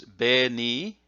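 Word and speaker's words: 紅: There's be ni. Now this hiragana is he, but when you have the voicing symbol there, the two little tick marks, it's be.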